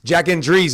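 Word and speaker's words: Jack Endries: too with Jack Andre Jack and Dre Jack Andre is how you say it I I think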